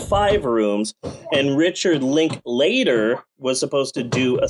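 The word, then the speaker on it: Linklater: to be five called five rooms and Richard link later was supposed to do a segment but he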